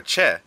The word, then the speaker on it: che: C, like the letter C alone, when followed by an E or an I, makes a ch noise, like cheese. So example are che, which means there is,